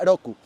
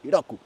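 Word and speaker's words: 六: dato, porque son seis del número seis, se pronuncia Roku, así como el avatar que estuvo antes de Ank, para los que vieron la caricatura, pues así, Roku.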